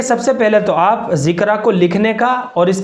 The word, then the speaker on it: ذکرہ: اس کو سمجھ لیجئے۔ ذکرہ جو ہے وہ زال کے ساتھ ہے، ذکرہ، زال ہے، چھوٹا کاف ہے، را ہے، اور آخر میں یا ہے، یعنی الف مقصورہ کے